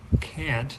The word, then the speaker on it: can't: Now they do say the A like a normal A, can't, they'll say it like that, but then what we do is we clip the T off. All right?